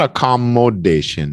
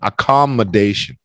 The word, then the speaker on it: accommodation: that application yeah but it's not a commodation it's like see that phonic there mutation accommodation accommodation Lily accommodation accommodation Milo Commendation